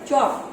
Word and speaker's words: chalk: जैसे कि फर्स्ट है CHALK चॉक, तो हम चॉक बोलते हैं, इसमें L नहीं सुनाई दे रहा है हमें, तो L के नीचे हम अंडरलाइन करेंगे।